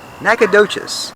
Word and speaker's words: Nacogdoches: The saddle is how do I pronounce this? Wait, hold on. Okay, explain this to me, internet legend. Nacogdoches.